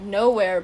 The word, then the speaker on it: Knowhere: They go to this place called Nowhere, which is spelled Knowhere. So it's like nowhere, but instead of N-O, no, it's I know. K-N-O.